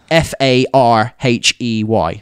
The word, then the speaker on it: Farhi: He said it's pronounced like Farhey. That's how he says you should pronounce it. Farhi.